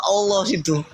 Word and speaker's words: Allah: berbahasa Indonesia yang benar di mana ada kata Allahu Coba baca di baik itu ada a l l a itu ada I itu bacanya apa Allah karena karena ini berasal dari